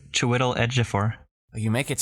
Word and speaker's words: Chiwetel Ejiofor: It is main guy whose name I will not be able to pronounce well. I can do it for you. It's Chiwetel Ejiofor.